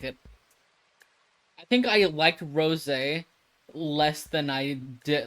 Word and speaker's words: rosé: It's not rose. It's I forget how it's pronounced. I don't remember. It's been like forever since I tried it. Rosé. Oh, that's what it is. It's rosé.